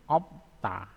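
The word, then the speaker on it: 없다: Oke, terus ini obsta. Obsta. Yang digunakan adalah biopnya. Jadi opta.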